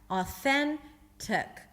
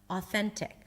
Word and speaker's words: authentic: Authentic. The UH is the schwa. So basically you don't pronounce the tik there, it's tuk. Authentic. I can play it. Authentic.